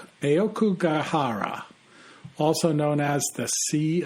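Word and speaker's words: 青木ヶ原: In Japanese, and I'll do my best Japanese pronunciation, it's known as Aokugahara, also known as the Sea of Trees.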